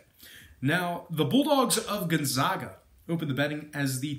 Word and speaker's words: Gonzaga: per contest now Gonzaga I I've been saying it wrong the whole time I think it's Gonzaga uh they failed to cover